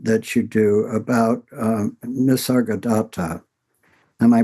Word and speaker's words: Nisargadatta: There's a uh a very interesting conversation that you do about uh Nisargadatta. Am I pronouncing that correctly? Nisargadatta, that's how I would pronounce it.